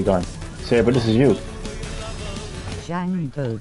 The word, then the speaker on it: Django: Django, the D is silent. Boom. Django.